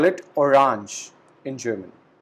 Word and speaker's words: Orange: We call it orange in German. So there is no change in the spellings between both the words, but we have a slight change in the pronunciation. In German, we call it orange, but in English, we call it orange.